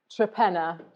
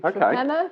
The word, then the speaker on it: Torpenhow: The village that we farm in is called Trepenna to the locals, but it is spelt Torpenhow. Yeah. And no one really knows why it got shortened to Trepenna, but...